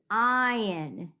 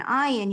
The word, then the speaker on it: ayin: So the last letter in the word Shema is ayin. Ayin is silent. It's a consonant that is silent.